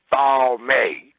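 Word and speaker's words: טמא: It's pronounced thalme. T-A-W-M-A-Y. Thalme.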